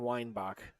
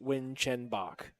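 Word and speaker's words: Winchenbach: I felt horrible because I took an entire syllable syllable out of his last name for the whole night I called him Eugene Weinbach and he was nice enough to correct me the next day and say hey my name is actually the way it's spelled it's actually win Chen Bach so ever since then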